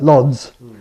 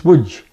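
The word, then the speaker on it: Łódź: As you notice, I said my grandmother came from a place that looks on the map like Lods, but it's WJ because the L's got a stroke through and the O's got an acute accent on it.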